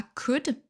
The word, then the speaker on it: could: On passe à could. Donc là, ne prononcez pas le L.